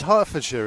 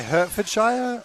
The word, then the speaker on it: Hertfordshire: not I know but it's hartfordshire isn't it yeah but it's not h a r t is it do you say Hertfordshire or hartfordshire Li Lester Shire no